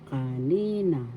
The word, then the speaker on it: kanina: syllable third syllable na kanina second syllable has the accent that means a while